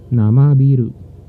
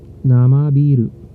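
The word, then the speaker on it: 生ビール: Namabiru. Namabiru. Take note I prolonged the letter I. I pronounced it in prolonged prolonged way. The I. Namabiru.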